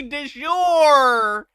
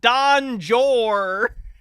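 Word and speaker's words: de jure: He's trying to say de jour, and he's saying like Don Jor.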